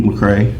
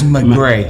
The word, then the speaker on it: McGray: You're going to talk about McCray. Yes. Is that, am I pronouncing that right? It's McGray. Mac Gray.